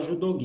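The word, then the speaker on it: judogi: julgue tá junto aí se escreve judô gi mas a gente fala julgue e é e ela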